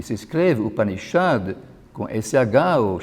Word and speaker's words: Upanishad: Porque, na verdade, a transliteração correta seria com um S com um pontinho embaixo. Isso se pronuncia mais ou menos Shad, como também nos nomes Krishna e Shiva. Esse S se diz que é retroflexo.